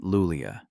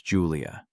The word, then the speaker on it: Julia: "It's not Lulia, it's Julia, and I didn't mistake him for someone else."